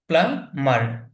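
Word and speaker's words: plumber: এখানে বিটা উচ্চারণ হবে না, প্লামার, প্লামার এরকম হবে উচ্চারণটা, পানির মিস্ত্রি।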